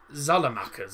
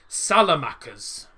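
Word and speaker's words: Saelemaekers: to see the maker solomon zalamakas that's the name yes that is that's how you well that's how the commentators are pronouncing it salamacas right i'll know that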